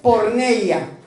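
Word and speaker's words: πορνεία: dentro de la Biblia saben cómo se dice en griego se dice por neia Cómo se dice impureza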